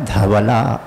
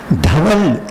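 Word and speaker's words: धवल: இல்ல யாந்தே துஷாரஹார தவலா தவல் அது ஒரு பேரு அழகான பெயர் அது நிறைய பேருக்கு உண்டு தவல் சோ தவளை இல்ல அது தவலே இல்ல தவல் முயற்சி பண்ணலாம் எல்லோருக்கும் வரும் உச்சரிப்பு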